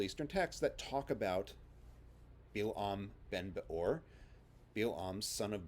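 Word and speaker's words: Bil'am: his hebrew name is bill um the stress at the end and with an i instead of an a sound and bilam appears to have been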